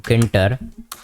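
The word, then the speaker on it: tkinter: अगर मैं इधर लिखूं किंडर अब आप बोलोगे क्या इसका इसके आगे तो टी ए रहा है तो ये टी साइलेंट है और ये गई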